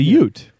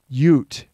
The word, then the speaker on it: ute: 80s Early 90s Toyota it's a ute ute ute like like you ute like in Australia that's what they call small pickups they call mutes yeah but they spell it ute yeah I don't know